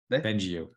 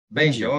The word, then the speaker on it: Bengio: Bengio. Bengio. Okay, so I was right. Yes, Yes. I've heard it. I should tell the BBC off then. They called you Bengio.